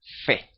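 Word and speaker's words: ף: embargo la la final la forma final siempre se pronuncia fe Okay entonces hay una diferencia Porque si la p tiene un punto dentro se pronuncia pa pa p y sin embargo la final es fe Así que hay esa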